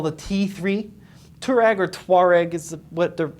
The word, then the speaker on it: Touareg: And the tribe is called the Touareg. Yeah, but we say Touareg. I don't know. Yeah. I don't know. But I think Touareg, the tribe, is spelled without the O.